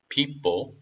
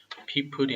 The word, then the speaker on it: people: Then the people, people이 아니라 people. 여기서는 R 글자가 없기 때문에 굴리시면 안 됩니다.